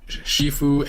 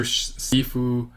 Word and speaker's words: Shifu: it uh and vice master sifu i'm trying to say but they pronounced shifu in the movie anyway uh